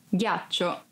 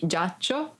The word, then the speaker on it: ghiaccio: Ghiaccio. Ice. Ghiaccio. Ice. Be careful because if you don't pronounce G as an hard sound like G, it would be giaccio, that it's a verb and means lie down.